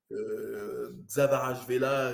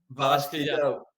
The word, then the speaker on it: Kvaratskhelia: Xavarashvela, je ne sais plus comment prononcer Kvaratskhelia, son c'est nom. bon, j'ai appris à le dire. Kvaratskhelia.